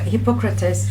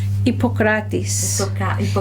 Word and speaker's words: Hippocrates: But in English they put an H, so they put Hippocrates, but it's really no H. Hippocrates.